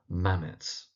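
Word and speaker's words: Mametz: So one of the poems is Mammothwood and that first word is pronounced mammoths with the emphasis on the first syllable mammoths.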